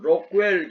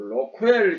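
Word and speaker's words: Rockwell: 경독이라고 표현을 많이 하는데 록웰 경도기 그 영어 발음이 조금 맞는 거 같고 로크웰 경도 시험기는 아마 일본식 그 용어가 조금 섬여든 거 같아요 그래서 현장에서 록이라고 하지만 로이라고 많이 한다라는 것을 어 꼭 기억해 주셨으면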